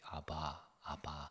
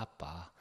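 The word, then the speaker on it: אבא: ABBA, 아바. 아바라는 말은 아람어로 어린 꼬마가 아빠에게 부르는 어린이 용어, 즉 그걸 직역하면 아빠입니다. 아빠. ABBA 뭐라고 읽어요? 아바라고 읽으면 안 되고 아빠.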